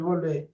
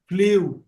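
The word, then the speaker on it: blew: যাকে জিজ্ঞেস করবে দেখবে বলবে গ্রিউ ড্রিউ ব্লিউ ব্লিউ সবাই কথা বলবে আসলে তা না উচ্চারণ হচ্ছে ব্লু ফ্লু গ্রু ওকে গ্রু বল গ্রোন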